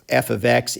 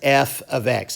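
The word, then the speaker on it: f(x): and notice how i pronounce that i pronounced this part right here as f of x it's not f parentheses x and it's not f times x if you over here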